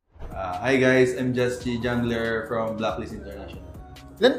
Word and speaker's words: Juschie: Ayun, Just Chi. Kasi, nanggaling talaga yun sa, sa name ko na Justin Richie.